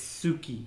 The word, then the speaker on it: Suki: it's not true blood i know it's suki suki okay suki i do like